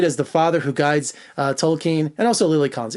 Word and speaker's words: Tolkien: What did you think of Tolkien? That's how they say it in the film, not Tolkien. I say Tolkien.